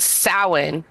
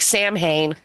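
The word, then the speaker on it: Samhain: um yeah the the reason that it they say it originated in in uh Ireland is because this is long before long before Christianity got there it was originally called sa even though it I know that that's how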